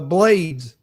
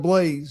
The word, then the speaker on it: Blaze: Blades instead of Blaze.